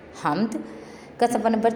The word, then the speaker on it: حمد: پڑھتے ہیں، یہ ہے حمد۔ ح زبر میم ہم دال ہم، حمد۔ ح زبر میم دال حمد۔ اگلا لفظ ہے الف